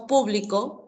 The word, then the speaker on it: público: Cuando pronunciamos público, público, equivale a un conjunto de personas. ¿De acuerdo? Público equivale a un conjunto de personas. ¿Ya? Y si digo publico, publico equivale a la acción de publicar en presente.